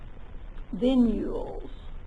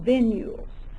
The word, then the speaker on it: venules: that we call pulmonary vules notice this word is spelled a little different it's not vules doesn't have a i in it it's not v i n it's v n venules so the venules start